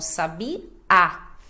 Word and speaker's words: sabiá: o stress né que a sílaba tônica mais forte vai ser a última então sab a a sílaba mais forte é a última até porque tem o acento indicando então Sabi a agora o português ele